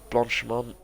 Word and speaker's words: Blanchemont: Now going through sector 3 down to Blanchemont.